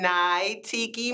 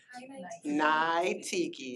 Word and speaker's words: Niteki: But Natiki. Thank you. Hello, everyone. All right, I have notes. I am Nai Tiki. Nai Tiki, yes, I know.